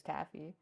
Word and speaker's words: TAFF: it's only tff yes well it's tafi because Finland so if you say it all together it's Taffy yeah right so I think